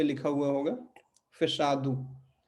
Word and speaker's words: fechado: लिखा हुआ तो है फिशादो और फिचादो, लेकिन इसको हम पढ़ेंगे क्या? फेशादू, है ना। तो कोई भी शब्द अगर ओ पे खत्म होगा तो उसका ओ का उच्चारण ऊ हो जाएगा, ठीक है।